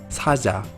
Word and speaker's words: 사자: En medio de palabra suena mucho más suave, por ejemplo, 사자, que es león.